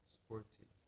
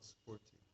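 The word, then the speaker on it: sphurti: That's called spurti. You can see Krishna outside, you get darshan. But when you see Krishna inside, it's called spurti.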